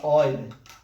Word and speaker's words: Euler: Se escreve Euler, né? Mas se fala Euler.